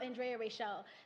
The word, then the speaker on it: Andrea Rachel: But when you see me, it's Andrea Rachel. That's how it's pronounced. Yeah, because my father is West Indian, so that's how they pronounce it.